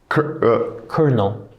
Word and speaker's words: colonel: Colonel has no R. Colonel. Like a military colonel.